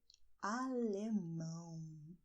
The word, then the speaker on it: alemão: "JAPONÊS" is "Japanese", and "ALEMÃO" is "German", "ALEMÃO". Very, very nasal, all right?